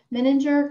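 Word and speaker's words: Menninger: a few decades he recently retired from um meninger i hope i pronounced that right richard meninger clinic you got it right awesome in houston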